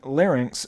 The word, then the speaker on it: larynx: I don't care for mispronouncing larynx so that it rhymes with lyrics.